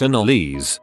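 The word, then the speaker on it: Annalise: my daughter's name is annalize pronounce in Elise and someone told me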